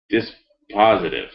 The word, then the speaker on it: dispositive: this dispatch damn lawyers dis positive dispositive there it is dis positive that's a legal word